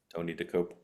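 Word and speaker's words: Tony Dokoupil: CBS Evening News, with Tony DeCopel. Is that how I pronounce it? Did I get it right? Tony DeCopel.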